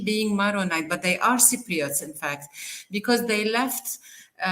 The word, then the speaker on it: Cypriot: Okay, Cypriot. Yeah, that see, you almost mispronounced it.